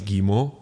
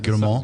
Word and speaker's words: Guillemot: Haskot is essentially the second in command at Ubisoft under CEO Yves Guillemot, and the guy who's basically in charge of all of Ubisoft's games.